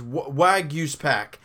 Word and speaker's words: Waguespack: Waguespack? It's pack at the end, but it's Waguespack.